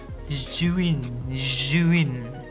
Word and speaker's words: Zhiyun: Tapi sebelum saya menjelaskan lebih jauh mengenai Zhiyun Weebill S, faktanya pengucapan Zhiyun itu salah. Yang benar itu sebetulnya Zhiyun. Ya pokoknya kayak begitulah, bukan Zhiyun.